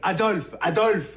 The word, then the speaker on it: Adolphe: F et PH, c'est pareil? Non, à l'oreille, c'est pareil. Adolphe, c'est pareil.